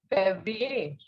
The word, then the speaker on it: Février: You can see here in Février on E, on the second E, an accent is there. And when such an accent is placed on E, the pronunciation is A. Okay, so it is Février.